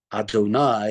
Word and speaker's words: Adonai: We say Adonai is how we pronounce it.